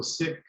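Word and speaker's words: Sikh: name basically the story behind sizzling seats so sick it's pronounced sick which is the the faith or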